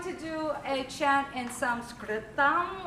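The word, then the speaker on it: संस्कृतम्: do a chant in some script on which is how you say Sanskrit in Sanskrit so if you would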